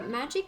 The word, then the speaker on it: Magi: tirelessly in gridania's name i never know when how to pronounce my own name here because the magic cat in my channel the magi actually it comes from the world magical because i love magical